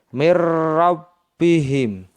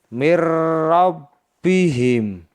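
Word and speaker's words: مِن رَّبِّهِم: cara membacanya seperti ini mirbihim Mir yang semestinya dibaca Min karena Nun sukun atau nun mati bertemu dengan ro sehingga dibaca Mir seperti ini Mir rabbihim Kesimpulannya adalah bahwa idgham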